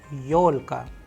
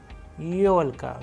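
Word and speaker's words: ёлка: We have used the Russian word yolka, yolka, where you can see the stress is on yo because it is also a vowel. That is why Yolka. The sound of yo is coming very strongly and it is known as Christmas tree.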